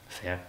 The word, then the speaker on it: Faire: Comment on la prononce en anglais ? Faire.